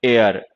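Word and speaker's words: heir: खैर, लेकिन इन सारे वर्ड्स में एच जो है वो साइलेंट लेटर है, प्रोनाउंस नहीं होता।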